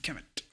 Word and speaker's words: Kemet: So in you notice that this one is written as, or transliterated as Kemet, or KMT, and then you add an E between.